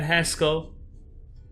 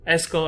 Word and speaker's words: Eskel: afterwards okay continue we're going to find Haskell escal I mean that Haskell I pronounced it wrong that's his horse what's